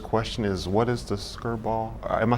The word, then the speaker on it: Skirball: guess the first question is what is the skirt ball am I saying it right yes museum yes